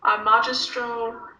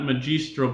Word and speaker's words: magistro: Ante omnis discipulus tua industria magistro laudator. All right, very good. Discipulos and industria, right? And not magistro, but magistro, always a hard G.